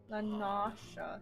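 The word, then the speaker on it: La Noscea: Lanasha. That's actually the correct pronunciation.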